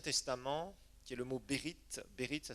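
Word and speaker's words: ברית: Un mot dans l'Ancien Testament qui est le mot Bérith. Bérith, ça s'écrit B-E-R-I-T-H.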